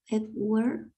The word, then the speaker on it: Webware: ¿Qué es webware? ¿Cómo se pronuncia eso?